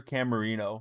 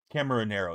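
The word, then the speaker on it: Caminero: Junior Camarino. Junior's been on fire. Camarinero, excuse me, I mispronounced it.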